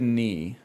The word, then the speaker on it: knee: Gnome and mnemonic have the silent letter at the start. Okay, same with knee.